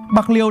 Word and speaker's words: Bạc Liêu: 60 là Bạc Liêu Bạc Liêu được phát âm theo tiếng Hán Việt từ tiếng Triều Châu là pô léo có nghĩa là xóm